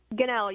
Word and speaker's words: Gunnell: I hope I'm pronouncing your last name right. Is that correct? Gunnell, yes, you got it right, sir.